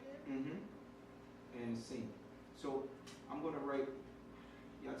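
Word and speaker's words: Sin: The next one we have sheen and seen. The dot on the right is sheen. The dot on the left is seen.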